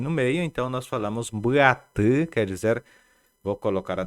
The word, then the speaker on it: mbuatı: Nós pronunciamos ela como mbuatı. Mbuatı, reparem, mbuatı. Prestem atenção no I. I, na verdade, é uma das letras, né, do abecedário ou do alfabeto guarani. E ele tem uma pronúncia gutural, por isso falamos I.